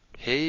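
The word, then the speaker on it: הא: Be sure to get that gap in the Hey there. Hey is the H sound, as in the English word house.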